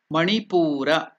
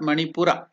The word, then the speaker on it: Manipura: level the NV level that is Manipur is not manipura Manipur chakra then the next next